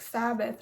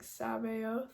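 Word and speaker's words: Sabaoth: Sabo I don't know I thought it was like just like pronounced like Sabbath or something first and it was a weird spelling but I watched like an interview and he said Glenn Danzig said like Sab oath or something I think it's why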